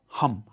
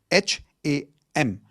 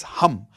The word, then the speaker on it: Ham: The fifth chakra is your throat chakra which is sound of hum. H a m. It's not ham. Okay? It's hum like how you would say hu m.